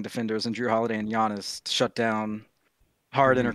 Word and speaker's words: Giannis: Giannis. Giannis, yeah. I always mispronounce it.